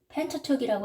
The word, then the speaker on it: Pentateuch: T-E-U-C-H. 이 CH는 K 발음을 합니다. Pentateuch이라고 하는데, 자, 숫자를 표현하는 그 접두사들이 있어요.